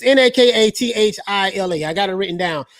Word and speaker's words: Nakathila: It's Nakathila. I got it written down because I didn't know how to pronounce his last name.